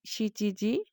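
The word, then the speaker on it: 七時: ইয়ন ইয়নকে আমরা বলছি ইয়োজি, শিচিকে বলছি শিচিজি, নানা বলা যাবে না এবং কিউজি বলা যাবে না, বলতে হবে কুজি।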